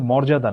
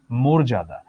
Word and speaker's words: মর্যাদা: এটার উচ্চারণ কিন্তু মর্যাদা নয়। এটার উচ্চারণ মর্যাদা।